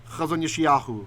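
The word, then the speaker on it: חֲזוֹן יְשַׁעְיָהוּ: So in ancient times, it would have been chazon Yesh'yahu, right? As if it's one word.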